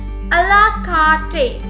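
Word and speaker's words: à la carte: It's pronounced as a la carte.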